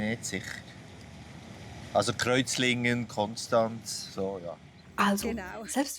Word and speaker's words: Konstanz: Genau, also die Frage, ob es eben Konstanz heißt oder Konstanz, da beschäftigen wir uns ja mit dem ST in der Wortmitte. Wird es nun st ausgesprochen oder st? Und auf Hochdeutsch ist es eben so, dass alle ST-Laute in der Wortmitte mit diesem stimmlosen S ausgesprochen werden, also st.